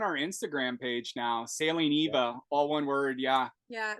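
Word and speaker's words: ʻIwa: But I just wanted to say it's Sailing Eva, but it's spelled IWA. Yeah. That's right. A lot of people will read it Iowa. But it's Eva. It's the great frigate bird, and that's that name is Hawaiian.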